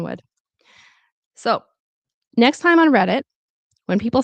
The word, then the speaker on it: Reddit: Some people will pronounce the T, but as I see you already know naturally in some other instances, you don't have to necessarily pronounce the T as a true T. You can say read it like a glottle stop, which is what I